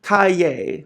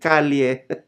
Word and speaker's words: Calle: I just want to tell you that Sasha Calle, or the way we Filipinos pronounce it, Calle, Sasha Calle or Sasha Calle, as Kara the Kryptonian.